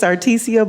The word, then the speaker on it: Articia: My name is Artesia, and it's spelled ARTICIA-.